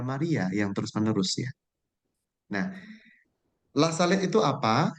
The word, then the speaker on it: La Salette: Nah, La Salette itu apa? Jadi tulisannya memang La Salette, betul, tetapi membacanya itu sebenarnya La Salette tanpa E ya.